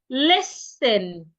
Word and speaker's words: listen: Listen. The rule says when you have letter S before letter T, sometimes not all the times, the T should be silent.